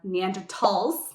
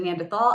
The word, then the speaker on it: Neanderthal: I will very briefly touch on Neanderthals. See, here I am being the controversial one here. Instead of Neanderthal, I say Neanderthal. It's the German pronunciation.